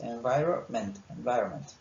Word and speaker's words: environment: esta N, digamos que no se pronuncia, solo decís environment.